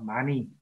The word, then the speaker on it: 많이: Yeah, chúng ta đọc là mani.